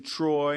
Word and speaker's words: Treu: successful today right oh man well Mr Jason Troy it's pronounced t r make sure everybody knows that